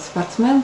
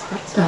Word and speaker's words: спортсмен: То есть произносят «спортсмен» через букву «э». Звук «э». Тогда как, по-моему, литературная норма русского языка произносить «спортсмен». «М» немножечко мягко произносит «спортсмен».